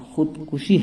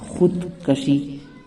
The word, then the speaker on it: خودکشی: وہ ہے خودکشی۔ دوستو، اس کا صحیح تلفظ خودکشی ہے کاف کے پیش کے ساتھ، جبکہ لوگوں میں خودکشی غلط تلفظ مشہور ہے۔